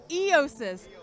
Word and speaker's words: Eiosis: Eiosis.